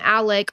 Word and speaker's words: Alex: His name it's spelled Alex, but everybody calls him Alec or Alec.